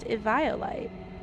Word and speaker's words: Eviolite: Apparently it's supposed to be pronounced Eviolite.